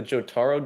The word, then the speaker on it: Jotaro: People have been calling this guy, I think it's like Jotaro or something, the Jotaro duck.